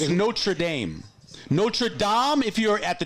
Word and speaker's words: Notre Dame: I'm just telling you how to say it correctly it's notra Dame all right so not